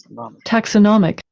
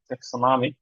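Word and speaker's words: taxonomic: ট্যাক্সমিক্সনমি ট্যাক্সমিন ট্যাক্সমি ট্যাক্সোনামিক তাহলে নমিক যখন হয়ে যাচ্ছে তখন স্ট্রেসটা হচ্ছে নতে ট্যাক্সোনামিক ট্যাক্সোনামিক আর টেক্স নমি হলে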